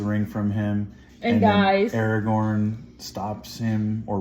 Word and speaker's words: Aragorn: that did kind of stick together though um Aragon how do you say his name yeah Aragorn Aragorn um the royalty guy right the big